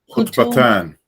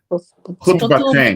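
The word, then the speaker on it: خطبتين: I always say it wrong. Kutubatan. Kutubatan. Kutubatan. Kutubatayn. Yeah, what it says, yeah. Khutbatain, excuse me.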